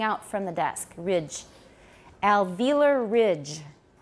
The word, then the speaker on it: alveolar: see an o here in british english i believe they say they say alveola alveolus and some in americans say alveolar yoga uh but i've always said alveolar what's your sangha india so that's the way we'll say it here alveolar alveolar soy homemany